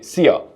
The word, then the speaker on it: szia: Then you can say szia. Szia. And very similar to the English way to see ya, just not see ya, just see ya.